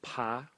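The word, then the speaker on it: 爬: in this series is pronounced PA in the second tone and again we can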